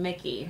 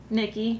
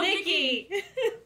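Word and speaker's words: Nicky: But it was the first time meeting Mickey, right? At the RV. Nikki. Yeah. Oh, good Lord. It's close. Not Michael. Not Nick. How dare you get his name wrong? Nikki.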